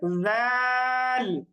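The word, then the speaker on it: ذال: টান দিয়ে উচ্চারণ করব পরেরটা হচ্ছে জাল জাল এটাও আমরা টান দিয়ে উচ্চারণ করব জাল জালের উচ্চারণটা একটু হালকা করে পাতলা উচ্চারণ করতে হবে জাল জাল এরপরের বর্ণটা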